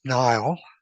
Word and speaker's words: Niall: Is it pronounced Niall? No, it's Niall, Niall.